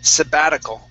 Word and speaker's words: sabbatical: Okay, this is sabbatical. Okay, so our stress is right here. Okay, and this T is we turn that to a D sound.